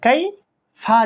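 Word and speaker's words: كيف: যেমন নাকি এটা দেখেন, কাফ ইয়া জবর কাই, ফা জবর ফা, কাইফা। আপনি যখন ওয়াকফ করবেন উচ্চারণ করার সময় কাইফ এভাবে পড়তে হবে।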